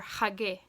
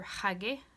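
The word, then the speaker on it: xagge: When you see an X, imagine H. Say it like a H sound instead of K. So an example of this would be hid, that means to close, or hage. So that's X-A-G-G-E for hage, that means wear, and then hid means close.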